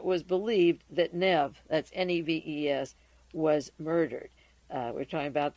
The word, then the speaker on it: Neves: t-a-n-c-r-e-d-o tancredo Nev n-e-v-e-s the S is silent and she received a